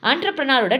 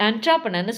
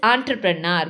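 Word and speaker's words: entrepreneur: ஆண்டர்ப்ரனரோட decision. And mainly note the students, எல்லாரும் என்ட்ராப்ரனர்னு சொல்லுவாங்க. That is நாட் இன்ட்ராப்ரனர், that is ஆண்டர்ப்ரனர். We have to pronounce it ஆஸ் ஆண்டர்ப்ரனர்.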